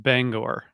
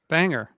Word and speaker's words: Bangor: job but that the the city is pronounced Bangor all right they played there enough they've been playing there since 1994 called Banger pronounce it Banger like everyone does banger yeah bangy it's just not how people in Maine pronounce that that's just not how it's pronounced doesn't doesn't really matter